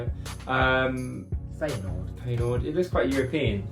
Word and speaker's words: Feyenoord: It like, reminds me of like Fernjord or how you say it? Feyenoord.